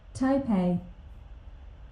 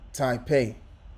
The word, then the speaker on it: Taipei: See if they have the pronunciation. Yeah, let's play that. Taipei. Okay, Taipei. All right, so that's how you pronounce it. Okay, so there it is right there. Taipei.